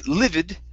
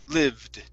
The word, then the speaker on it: lived: be important okay because if you say livid livid is actually another word that means extremely mad so if you're if you're saying that there was a an extremely mad man okay uh it's different than saying there was a man that lived or dwelt there okay so we need to take off that ID okay so it's Liv lived lived there you go that's